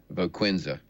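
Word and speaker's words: Voquezna: So I would contact the company that makes, how we call it, Voquinza is how it's pronounced.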